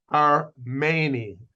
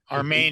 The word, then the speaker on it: Armeni: Armeni. Armeni. He is said like an A.